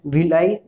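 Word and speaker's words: villi: In finger like extensions या projections को क्या बोलते हैं, विलाई, ठीक है, विलाई, या फिर कोई है विली भी प्रोनाउंस करते हैं, विलाई।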